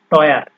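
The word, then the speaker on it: teuer: যেমন এখানে দেখতে পারেন আপনারা টয়ার। ঠিক আছে, টয়ারে আপনার ই ইউ এই দুইটা যোগ হয়েছে, তো যোগ হয়ে এটা হচ্ছে আপনার টয়ার। টয়ার মানে হচ্ছে এক্সপেন্সিভ বা মূল্যবান বা দামি, এরকম কোনো কিছু বোঝায়।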